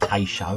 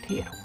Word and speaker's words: Tato: I used to call it Tay-show and all sorts. But yeah, I just pronounce it like the crisp now. Can't go wrong. Tato.